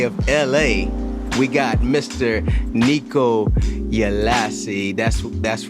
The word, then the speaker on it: Nikko Ielasi: Nikko Ielasi. That's right. I said it right, you know. So, without further ado, hold on, I'm gonna get it right. Buenos Aires, Senor Nikko Ielasi.